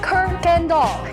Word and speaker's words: Kuykendall: We are of course talking about the one, the only Miss Kirkland Doll. It's pronounced Kirk Gandal, even though there's no R.